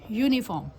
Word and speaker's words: uniform: उसके अलावा अगर हम बात करें यूनिफॉर्म, फिर UNIFORM, तो उसमें भी आप देखेंगे फिर से य का साउंड आ रहा है।